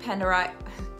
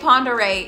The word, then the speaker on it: Pend Oreille: home location for the lake Pender I did it I said it wrong the lake Ponder Yacht Club Ponder Yacht